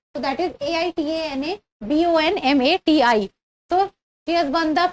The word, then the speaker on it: Aitana Bonmati: Little different pronunciation. So that is Aitana Bonmati.